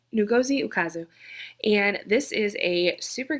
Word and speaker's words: Ngozi Ukazu: The first 5-star is actually a graphic novel, check please, by Gozi Ukazu. I looked up how to say it. Ngozi Ukazu.